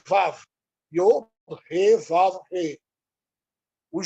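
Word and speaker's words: וָו: Alguns dirão, mas não é Vav, é Val. Em judaico, a pronúncia hebraica é Vav.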